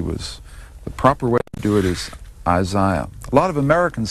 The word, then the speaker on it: Isaiah: rewriting exercise the name the correct way to pronounce this name is Isaiah and it was a